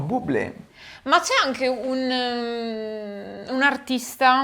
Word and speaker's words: Bublé: Oddio, io pensavo Dublé. No, Bublé.